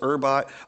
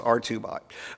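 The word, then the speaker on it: Hubot: I know this uh looks like it says herbot I'm told it's pronounced rbot um make choose one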